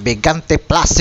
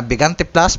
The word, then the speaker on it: Bigante Plus: para po sa k pagbigkas ng bigante plus imbis na bigante bis na banti plus banti PL po ang aking nababanggit so Pagpasensyahan niyo na